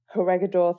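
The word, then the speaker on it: Corregidor: the battles of batan and and I can't pronounce the second one it begins with a c t corgador corgador thank you yeah and so they end in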